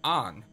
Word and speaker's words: Ann: you know because there's a girl named Anne but she's called on and you know in the states no one calls someone on if they're spelled a-n-n but that's how she's